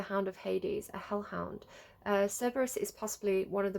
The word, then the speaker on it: Cerberus: I might say Cerberus because, again, it's the way I was taught, but it's Greek. It's Greek, so it probably is a soft C.